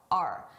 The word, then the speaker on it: our: I did not pronounce this as our. I said R. A very reduced sound, R.